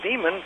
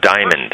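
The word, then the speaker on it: Dimond: What Brother Demon put on his DVD. It's pronounced diamond.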